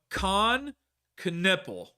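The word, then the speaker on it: Knueppel: But Khan Canipple, that's how you say his name.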